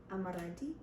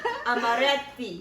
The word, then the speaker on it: Amaretti: Amaranti. That was the worst thing I've ever heard in my life. Amaretti.